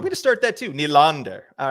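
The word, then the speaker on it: Nylander: they were telling me that I wasn't saying nander right because it was like nander and so I started saying on the podcast I was like William nander and like getting that good dip there on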